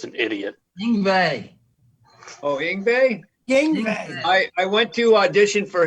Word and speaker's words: Yngwie: Yngwie.